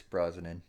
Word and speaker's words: Brosnan: I'm gonna say Pierce Bronson. Is that how you say his name? Pierce Brosnan.